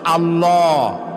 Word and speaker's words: আল্লাহ: বলেন তো আল্লাহ নয় কিন্তু আল্লাহ হচ্ছে অশুদ্ধ শুদ্ধ হচ্ছে আল্লাহ বলার সময় মুখটা গোল হয়ে যাবে বলেন তো সবাই উচ্চারণ করেন আল্লাহ আবার বলেন আল্লাহ আবার বলেন